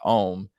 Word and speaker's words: Eom: Created by the eccentric folk artist Eddie Owens Martin, who in 1957 changed his name to Saint Eom, pronounced Ohm, and became the first Pasquoian.